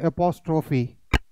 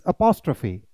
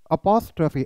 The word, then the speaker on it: apostrophe: इसे क्या बोलते हैं? एपोस्ट्रोफी। नो, इट्स अपोस्ट्रोफी, इट्स अपोस्ट्रोफी, अपोस्ट्रोफी।